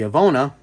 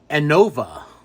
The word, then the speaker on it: Anova: in one of these this is the avona aona how do you I can't even pronounce it Anova Anova you see that there you go this is a sid